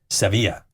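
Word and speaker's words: Sevilla: from Malaga to Seeva I am pronouncing this in the Spanish way yes seevilla so I took a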